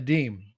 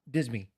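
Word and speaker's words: disme: to be pronounced yes the deem yeah deem not dismi right well no yeah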